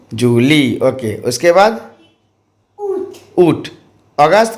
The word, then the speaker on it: août: Okay, उसके बाद Août, ऊट. अगस्त का फ्रेंच में ऊट बोला जाता है और स्पेलिंग क्या है?